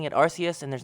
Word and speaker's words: Arceus: it has finally arrived legends arceus and i'm pronouncing it arceus and there's not a goddamn thing you can